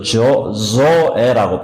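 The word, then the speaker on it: ζωή: 그래서 조에라고 발음하는데 뭐 한국말로 그냥 조에 해도 괜찮습니다.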